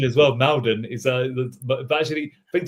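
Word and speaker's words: Maldon: Malden is a but actually think to the locals when they call it Molden. Molden and Tik actually tried and pronounced it like that and it was Molden.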